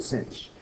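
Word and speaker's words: sinh: cinch although H stands for hyperbolic sine hyperbolic pronounce it cinch e to the X plus e to the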